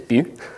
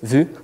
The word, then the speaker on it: Vue: do you pronounce it if you're Spanish it's Butte if you finches zoo but we like to save you as in probably hard V sound good to know good